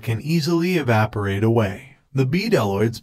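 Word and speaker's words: bdelloids: easily evaporate away the b deloids pronounced with a silent b have evolved a suite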